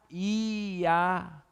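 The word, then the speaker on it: Jah: Alguns falam aleluia em alguns outros lugares, porque é J-A-H, que é e no hebraico não tem a pronúncia do J, por isso que é I.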